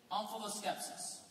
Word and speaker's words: omphaloskepsis: Omphaloskepsis. Could that also be pronounced omphaloskepsis? It can, it would be wrong. Omphaloskepsis.